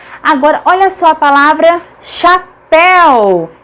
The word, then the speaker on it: chapéu: Agora, olha só a palavra chapéu, chapéu. Pel é a última sílaba, é tônica, portanto é acentuada porque é uma oxítona terminada em ditongo.